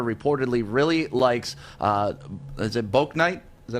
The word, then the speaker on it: Bouknight: The Pistons' Troy Weaver reportedly really likes, is it Bouknight? Is that how you say it? Yeah, Bouknight.